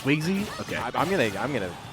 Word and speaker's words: Swignzy: tag yeah that's a very good name it's pronounced swizzy okay i'm gonna i'm gonna say so no